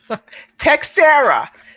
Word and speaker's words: Teixeira: pronounce that last name textera there's no eyes in there and it's easier to then pronounce why don't you just